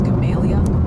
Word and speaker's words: Gamaliel: Also, quick PSA from the pronunciation posse. Apparently, Gamaliel is Gamalia, and Marrowbone sounds more like Marrowbone.